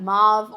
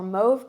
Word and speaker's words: mauve: shade Dolly it is that mauve or mauve color it depends what part of the country you're in or the world how you pronounce it you know what I'm